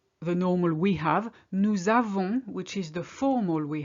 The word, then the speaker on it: nous avons: Nous avons, which is the formal we have. Notice that we link here. Nous avons. We don't say nous avons. It's more difficult.